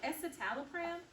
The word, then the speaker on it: escitalopram: And when I had a conversation with Johnny here earlier, he was telling me about the other medication, escitalopram. Escitalopram. You mean escitalopram?